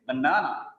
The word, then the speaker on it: banana: But in English, it is banana. Banana. The second syllable is stressed there.